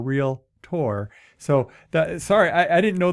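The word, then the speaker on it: Realtor: pronounced it right you didn't say real la ti or real la tour which which people get wrong it's uh there's only two syllables in those words it's real like as in real estate and tea or real tour so sorry i didn't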